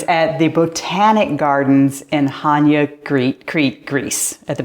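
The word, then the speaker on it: Chania: the island of cre and the City of Hana a lot of people spell say CH so it's chi c h n i a it's actually pronounced Hana where the sea is silent man what a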